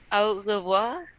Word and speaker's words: au revoir: Au revoir. Au revoir. Okay, AU we pronounce O.